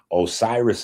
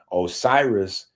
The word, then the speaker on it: Osiris: Osiris is the Greek pronunciation. Osiris is the Greek pronunciation, but it is the popular pronunciation that the world understands.